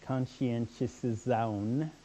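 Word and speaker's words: conscientização: english equivalent for it so that's how you pronounce it conscientious zoun and it's both a noun and a verb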